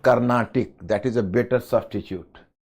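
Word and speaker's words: Carnatic: this is better to write karnatic it is pronounced karnatic that is a better substitute karnatic my friend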